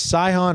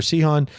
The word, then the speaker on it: Sihon: So, this this is Israel again traveling through another place, Sihon or Sihon. Sorry, there's always like two pronunciations. Uh, Sion, the king of the Amor Amorites.